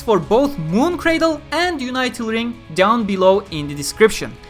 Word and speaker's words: Unital Ring: series, Sword Art Online Unital Ring. Yes, it is pronounced Unital Ring because it comes from the word unite, so it is not Unital Ring or anything.